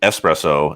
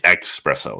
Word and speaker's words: espresso: but like i'm saying espresso is the right way to say it where some people will say espresso there's no x oh yeah that's dumb